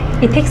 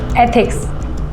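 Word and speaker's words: ethics: इथिक्स नहीं, एथिक्स ऐसे pronounce करो। एक बार बोल के बताओ।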